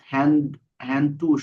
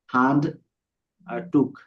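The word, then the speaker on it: Handtuch: দাস হ্যান্ড টুস। হ্যাঁ না, হান হান। আ হ্যান্ড টুস। টুস না, টুক। এই যে উ আছে, ওর ও পরে আচ্ছা আচ্ছা আসলে খ হয়।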